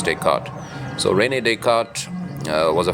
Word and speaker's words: Descartes: So anyhow, so when I first read this book written by René Descartes, now it's a French name, so it's spelled Descartes, Descartes, but I think the French pronunciation is Descartes.